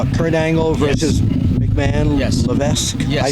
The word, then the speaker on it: Levesque: Levesque. Yes. I say Levesque. I pronounce it that way.